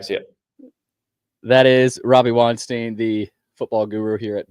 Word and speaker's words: Weinstein: It's Robbie Weinstein.